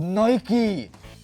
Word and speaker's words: Nike: biky but the guy it's called Nike it's it's just how it's pronounced